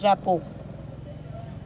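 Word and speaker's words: rapport: R and T both are silent, so it's rapo.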